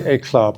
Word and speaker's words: Éclat: No, but we do say Éclat because we're from Norfolk, so that's the right way.